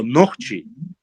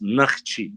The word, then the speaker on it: нахчи: Слово «нохчи», который используется плоскостной диалект, ты свою учил, в древности не использовался. Мы всегда назывались нахчи, через А. Нахчикам двое. Через А. Правильно говорить так.